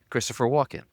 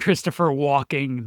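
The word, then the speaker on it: Christopher Walken: It Jon: Christopher who, Ryan: Christopher walk-in. Jon: okay. Kearns: All right. Jon: You said it right that time. Ryan: what? Jon: You definitely said Christopher Walking the first time.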